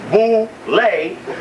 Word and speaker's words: boule: go to the boulevard known as bouley pronounced boo lay the group is here